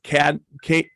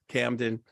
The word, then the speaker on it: Camden: there at Mother Stewart's with Andrew Cadman. That's how you pronounce it there, Chris? Is that right? Or did I butcher it? Camden.